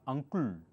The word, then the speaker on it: uncle: Uncle, not uncle, not uncles. I'm sorry, many people do not know the correct pronunciation. Uncle, kul.